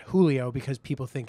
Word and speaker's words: Giulio: g-i-u-l-i-o um and the instagram handle is not julio because people think it's julio so how would